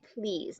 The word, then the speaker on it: please: Now, again, we see this, there's an EA word there, right? So even though that's a big word, the first one says his name and the second one is silent.